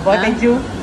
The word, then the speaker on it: Botejyu: dito kami sa ano, Botejyu. Botejyu Ramen. Di ba alam paano pronounce eh? Paano mo kaya ating man? Ano ba paano pronounce? Botejyu.